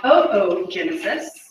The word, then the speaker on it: oogenesis: So we're going to talk about the formation of eggs, which is called oogenesis. You say pronounce that O twice.